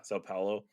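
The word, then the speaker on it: São Paulo: Sao Paulo.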